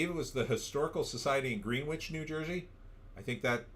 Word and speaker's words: Greenwich: Is it Greenwich? No, it's actually Greenwich, but the witch is spelled W-I-C-H.